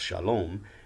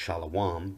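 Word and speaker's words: שלום: to our ancient evidence understood to be pronounced shalom they would gms members would say it's pronounced shalawam but whatever the case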